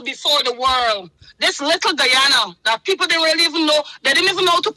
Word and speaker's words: Guyana: This little Guyana that people didn't really even know. They didn't even know how to pronounce this country. Guana all kind of name that was pronounced in this country.